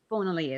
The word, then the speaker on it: Bonali: Bonali is how her last name was said. Her first name is spelled Surya.